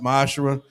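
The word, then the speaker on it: מעשר: Tithes, which is a commandment, you can find us in Numbers 18:21, Malachi 3:8-10, means 10th in Hebrew is pronounced ma'ashera.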